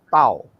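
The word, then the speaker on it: Tav: Ya, bahasa Inggrisnya memang penyebutannya adalah taf. Bahasa Indonesia itu tau. Ya, karena itu di tempatnya Papi Lukas, gerejanya namanya kehilatnya namanya kehilat alef tau. Ya, jadi mungkin saudara akan tanya apa bedanya taf dan tau? Saya bilang sama, itu hanya pronunciation atau pengucapan. Yang taf itu dari bahasa Inggris, yang tau itu dari bahasa Indonesia.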